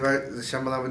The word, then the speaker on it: Shyamalan: Written and directed, her debut film, written by Isana Shyamalan, I believe Shyamalan Ding Dong, that's how you say her name.